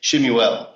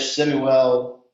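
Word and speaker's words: Shmuel: Then we get a scene with Nicodemus and and Samuel didn't pronounce it back then, but like Shemuel, right?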